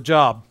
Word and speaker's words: Job: To Job.